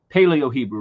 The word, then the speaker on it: paleo Hebrew: uh completely he miss he mispronounces but it's paleo Hebrew right from like the pale Paleolithic Era right and so they